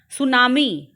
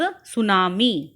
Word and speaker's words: tsunami: सुनामी बच्चों, यहाँ पर टी साइलेंट है। सुनामी pronunciation is tsunami.